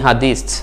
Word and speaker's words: হাদিস: হাদিত উচ্চারণটা যেমন মনে হচ্ছে হাদিত, কিন্তু এর সাথে এস যোগ করবেন, তো আপনি বাংলাতে বা ইংরেজিতে উচ্চারণের ক্ষেত্রে আপনি হাদিসই বলতে পারেন, সমস্যা না। হাদিত বলতে হবে এমন কোনো কথা নাই, হাদিস বলতে পারেন।